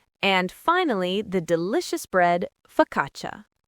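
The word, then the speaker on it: focaccia: And finally, the delicious bread fakatcha. F O C C A C I A. Here the CCI makes a ch sound and that first a is a schwa. So it's fkatcha.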